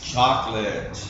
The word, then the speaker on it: chocolate: I have here is chocolate everybody say that chocolate chocolate this o right here no sound normally we say choc Chate chocolate chocolate yeah yeah